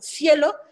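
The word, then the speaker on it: SciELO: investiguen en páginas como cielo que se escribe sc leo o redalyc que lee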